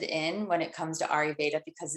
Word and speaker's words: Ayurveda: But I'd like to hear from you on what you're interested in when it comes to Ayurveda, because it's so dense and there's so much to it.